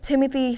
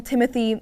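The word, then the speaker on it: Timothée: pretentious it is that you spell Timothy in the French form but you insist on it being pronounced like the English name safely DQ but moving on Timothy your tux how do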